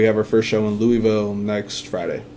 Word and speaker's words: Louisville: And now we have our first show in Louisville next Friday. Or Louisville. Louisville. Hey, you gotta say it right for the locals if you're going down there.